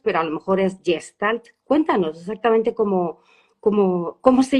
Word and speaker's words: Gestalt: Gente que la nombra como jestal. Al final Gestal es una palabra alemana, entonces cada uno la pronuncia un poco como lo siente, como le viene.